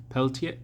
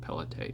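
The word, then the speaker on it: Pelletier: It's in French so I'm going to butcher the pronunciation but Jeanmark Peltier Peltier Pelier. I know they usually don't pronounce the Rs. So, I think Pellete is probably like somewhat close.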